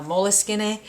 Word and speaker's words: Moleskine: in the United States a lot of people call them moles skins. Uh I think the correct pronunciation or the Italian pronunciation is something like uh moleskinn and um but according to the company they really don't care how people pronounce it.